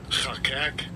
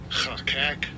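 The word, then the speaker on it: חָקַק: And I'll give you a pronunciation of it. Strong's H2710. Chakak. Chakak says to cut out, decree, inscribe, set, engrave, or portray, or govern.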